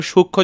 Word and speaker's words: সূক্ষ্ম: যেমন এখানে সূক্ষ্ম যখন বলছি তখন দেখো ক্ষীয়র নিচে একটা ম আছে, কিন্তু সেখানে আমরা সূক্ষ্ম বলে উচ্চারণ করি না, আমরা সূক্ষ্ম বলি।